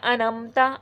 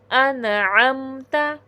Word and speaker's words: انعمتا: مخرج واضح نہ کرنا، انمتا انمتا کہہ دینا، جبکہ یہ ہے انعمتا، ٹھیک ہے۔ یہ دیکھیں